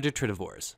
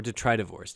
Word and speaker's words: detritivores: The second group are detritivores, or detritivores, depending on how you want to pronounce it.